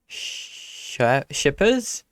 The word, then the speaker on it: Schippers: Today you're joined by me, Daniel, and also Marco Schippers. Did you say it? Schippers. Yeah, it's it's difficult to pronounce for foreigners.